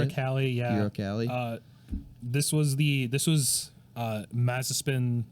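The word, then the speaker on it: Uralkali: Uralcali, yeah.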